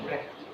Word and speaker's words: Utrecht: Ulang dari awal, gue mau jelasin Utrecht itu bacanya Utrecht.